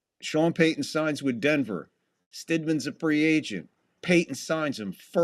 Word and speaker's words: Stidham: Snydam. First series, Broncos got the kickoff. Begin with a handoff. It'll be good for 2 yards. So it's pronounced Stidham, okay? Stidham.